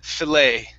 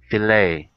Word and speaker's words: filet: that fillet delayed uh the t is silent fillet fillet there you go okay